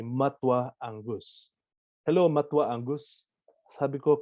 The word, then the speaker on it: matua: conference once and then i heard someone say matwa angus hello matua angus sabiko can you repeat that matwa can you spell that m-a-t-u-a and believe me or not we